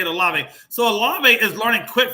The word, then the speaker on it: Olave: Olive. One more, sir. Olave. Is it Olave? Okay, that's how you say it, Olave.